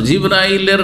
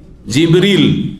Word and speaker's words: জিবরীল: কে জিব্রাইল আলাইহিস সালাম জিব্রাইলের নামের দুটো উচ্চারণ রয়েছে জানেন না জানেন না আমাদের দেশে শুধু জিব্রাইল উচ্চারণটি প্রসিদ্ধ তাই না কিন্তু হাদিস কোরআনে কি রয়েছে জিবরীল কি রয়েছে জিবরীলা মিকালা